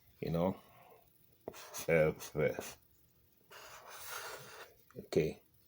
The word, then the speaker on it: Ewe: Here it is. It's F. It's F, not away. Okay, it's written like this. We're gonna practice it. Okay, we're all gonna practice it. It's you know F.